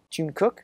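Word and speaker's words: Jungkook: want G to say his name right it's Jun cook Jun Jun cook yeah it's Jun cook any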